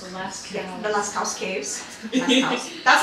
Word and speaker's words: Lascaux: the Lascaux Caves.